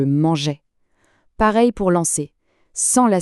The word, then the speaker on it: mangeais: Pour manger, si on n'ajoutait pas un E devant le A de est, on prononcerait manguait avec un son dur. Le E est là pour garder le son je mangeais.